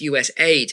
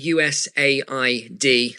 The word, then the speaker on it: USAID: Although it's actually people corrected me saying Neil it's not USID it's US aid. It is actually USID ladies and gentlemen. I I was saying it correctly in the first place. It's just uh you know they just say US aid for easier but across all government